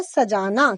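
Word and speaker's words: सज़ा: जैसे मैंने देखिए एक शब्द लिखा है सजा, अगर मैं हिंदी का ज बोलूंगी तो होगा सजा। सजा का मतलब होता है सजाना, किसी भी चीज को डेकोरेट करना। लेकिन अगर मैं ज के नीचे बिंदु लगा दूंगी, नुक्ता लगा दूंगी, तो वो ज ना रहकर बन जाएगा ज, सजा।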